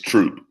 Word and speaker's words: Troupe: Is it Troupe or Troupe? How do you say your last name? It's Troupe.